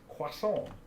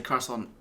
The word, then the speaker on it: croissant: I pronounce this croissant, which I just say croissant.